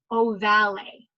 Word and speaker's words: ovale: Okay, I like to pronounce it like this because it's like, it's oval, but it has an 'e'. So that's why I say foramen ovale.